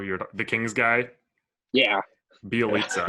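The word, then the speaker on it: Bjelica: Bielitsa, I think is how you pronounce it. Yeah. Bielitsa, that's it. Yeah.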